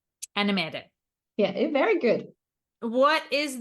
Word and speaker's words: Annemette: without me absolutely but in it I'm called anim anim yeah very good what is the parental leave